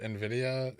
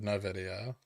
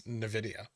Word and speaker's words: Nvidia: dollars enough for you to pronounce it nvidia instead of no video no it's and i don't pronounce it in that video it's nvidia so it's almost like an iv what hater do you